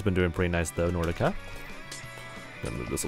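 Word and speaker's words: Nrdca: better Improvement than that it's pronounced Nordica but it's in our DCA because uh vowels were taken apparently lovely anyway Nordica that's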